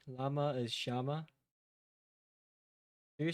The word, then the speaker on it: llama: LL is Y. Or J. Llama is Shama.